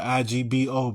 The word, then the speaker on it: Igbo: Because you don't pronounce G's in Igbo. I know it's spelled I-G-B-O, but it's pronounced Igbo.